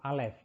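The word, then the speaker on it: א: Yang pertama adalah huruf alef. Ya, ini adalah huruf alef. Huruf alef ini adalah silent letter ya.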